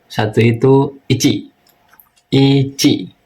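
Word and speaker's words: いち: Ici. Nah, jangan ada huruf K di belakang ya. Jadi i ci jangan ada k ya ici. Jadi cukup ic aja ici.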